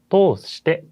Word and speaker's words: 通じて: 자, ネットを通じても인터넷을 통해서도 자, 이거는 通じて라고 읽었어요. 사실 뒤에 있는 게 지잖아요. 이거는 사실 通して라고도 말할 수가 있어요. 거의 같은 뜻으로 쓰이는데요. 通して 이렇게 말해도 통해서 라는 뜻이고 通じて라고 해도 통해서 라는 뜻입니다.